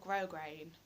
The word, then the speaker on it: grosgrain: grit grosgrain cross grain it's spelt grass grain it's called grosgrain why I put the